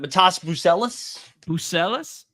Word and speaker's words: Matas Buzelis: Matas Buzelis.